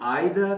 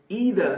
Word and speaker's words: either: अब इसकी दो प्रोनाउंसिएशंस हैं, दोनों सही हैं। कुछ लोग आइदर कहते हैं, कुछ लोग ईदर कहते हैं, दोनों बिल्कुल सही प्रोनाउंसिएशंस हैं।